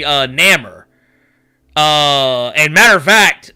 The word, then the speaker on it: Namor: know what i mean it doesn't look like it should be a long a sound in his name like it it just